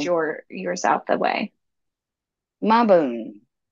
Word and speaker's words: Mabon: yours out the way maon it's ma like m a bone bo b u n